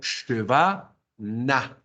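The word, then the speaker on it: שְׁוָא נָע: El sheva que se pronuncia, o sea que se dice lo llamamos en hebreo sheva na.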